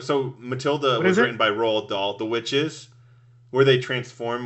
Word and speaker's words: Roald Dahl: movies are based on books by Roald Dahl Roald Dahl is how you say his name so both